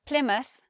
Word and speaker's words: Plymouth: from Middle English but we change the way we say the word mouth when it's at the end of the word when it's at the end of the place now it sounds different to how you would expect we have Plymouth Bournemouth Yarmouth so instead of mouth it becomes mus we have the schwa there so the sound of